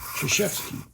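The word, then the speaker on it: Krzyzewski: became Coach K and they may be very clear that it's chashi okay which is the the proper pronunciation people ought to be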